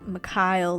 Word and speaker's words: Mikhail: It's Mikhail, I have learned, not Mikhail. I'm sorry, guys. I mispronounced his name in my first video. I said Mikhail, but it's actually Mikhail, like Mick and Kyle together, apparently.